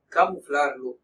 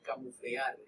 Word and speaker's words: camuflarlo: Ambos tipos de sonidos pueden confirmar un mensaje, debilitarlo, ocultarlo, camuflarlo o contradecirlo. Camuflarlo. La mayoría de la gente dice camuflear, no camuflear. Miren una conjugación, camuflarlo, no camuflear, camuflarlo.